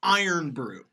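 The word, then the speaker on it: Irn-Bru: I'm on board there's a soda called iron brew now I wanted how do you spell that it's spelled I are in B are you and what does it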